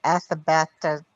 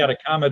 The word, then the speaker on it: Atacama: in the uh the i never pronounced it the athabata desert the animal oh the atacama desert anaconda desert that's it